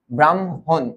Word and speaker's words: ব্রাহ্মণ: এই দেখো এই বর্ণটা যদি থাকে এই বর্ণটার আগে হয় ম এর উচ্চারণ। পরে হয় হ এর উচ্চারণ।